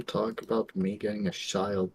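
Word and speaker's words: Childe: It's just child, it's just an edgy spelling. You don't need to pronounce the E at the end.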